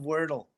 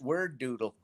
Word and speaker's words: Wordle: Oh man, that is Wordle. Wordle. Oh. Yeah. Now, are you a good Wordler? But I love Wordle. Okay. I used to call it Word Doodle, but it's Wordle.